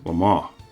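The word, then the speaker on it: Le Mans: ever knew this car until I heard it pronounced as Lama and then I only realized it was because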